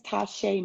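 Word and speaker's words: Ta'Shay: yourself to everyone um make sure that i'm pronouncing your name correctly okay uh my name is tasha i am a children's book author my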